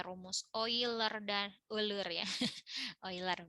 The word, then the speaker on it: Euler: Euler bacanya.